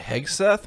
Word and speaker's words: Hegseth: we're talking about uh Pete heg Hegde I heg Seth maybe Heth look that